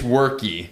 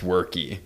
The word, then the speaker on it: Weierke: Uh, it's worky.